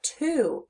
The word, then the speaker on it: two: sound or the O when we hear the sound in the word we're hearing ooh but it's spelled with the letter O this is the Heart